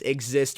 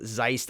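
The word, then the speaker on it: XYST: Axe versus Venom, Blackbeast versus Exist, or as I was calling them, Zeiss. It is it is spelled Zeiss XY ST for the best of I can, but but it is pronounced exist.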